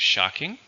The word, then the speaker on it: shocking: noun it's usually countable and it has one syllable seeing my ex-boyfriend was a shock very surprising okay next we have shocking again same meaning very surprising but this one